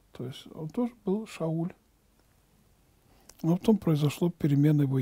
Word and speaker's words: Шауль: него произошел царь саул это имя по-еврейски произносится как а шауль но это колена вениаминова